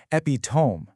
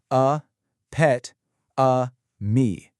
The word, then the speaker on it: epitome: spelling and wanting to rhyme it with home saying epitome. Instead, step through its four distinct syllables like you're a vocal coach a pet a me. And notice that the final e is absolutely pronounced.